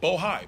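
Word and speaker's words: Bohai: Thornton, Rosemont Synica Bohigh, I want to make sure I pronounce it right. Bohigh, B O H AI, and the list goes on and on.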